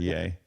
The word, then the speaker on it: Ye: new Happy New Year it's pronounced yay thank you very oh